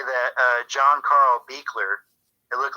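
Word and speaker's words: Buechler: also wanted to say that uh john carl beakler it looked like buchler but speak clear it's pronounced speaker he's the director for uh friday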